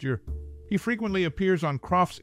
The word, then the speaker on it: Eure: form the TV family his last name is pronounced your he frequently appears on